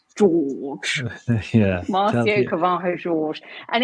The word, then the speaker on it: Jorge: On it's not Jorge, it's George.